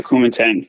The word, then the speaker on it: Kuomintang: Is that how to pronounce it? Kuomintang? Or the Chinese That's how I would pronounce it. Yeah, the Kuomintang.